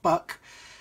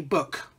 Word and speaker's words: Buk: Yes, it's pronounced Book, not Buck. So it has a, as a Yorkshireman would say, Book.